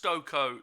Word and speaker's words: Stokoe: is it stoko yes it's stoker pronounced stoko yeah it is pronounced it's a viking name